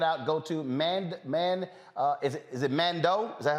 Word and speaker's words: Mandeaux: Now, folks, if you want to check it out, go to is it Mandeaux? Is that how it's pronounced? Mandeaux.